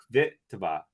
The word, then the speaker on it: Kvitova: That was not a pronunciation thing. Kvitova, please. You got it. You got it, my friend. Kvitova.